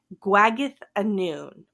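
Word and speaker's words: Gwragedd Annwn: or or they're called guag a noon and don't even try and spell it because it's not spelled how you think I'm that that th sound is a double D it's like Welsh or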